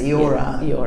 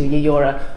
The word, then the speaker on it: Eora: But taking advice from Darug-speaking peoples, we decided to change it to Yeora. My friend Pauline was also telling me that this was also a little bit more gender inclusive, to be able to add that particular vowel sound at the beginning as well.